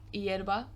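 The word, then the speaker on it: hierba: you can't hear it we also have the word erba which is the word for grass or herb yerba also with the silent h in the in the beginning equally as i've said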